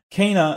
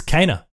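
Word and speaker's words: Kena: uh gamesrand who says keena oh kenner sorry bridge of spirits uh it's it's cana it's kinda oh i said it right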